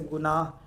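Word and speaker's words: گناہ: clear हो रहा था खफी में हाय खफी में हे खफ जाए या है साइलेंट हो जाए तो उसको कहा जाता है खफी जैसे गुनाह गुनाह क्या है यहां देखिए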